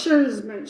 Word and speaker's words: Szurma: It's Sermon, I think, but it's an Szurma. So it's Sherman.